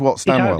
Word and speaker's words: Whatstandwell: How do you pronounce that? Whatstand? Has it got a D in the middle of it, or is it just Whatstandwell? Yes. Whatstandwell?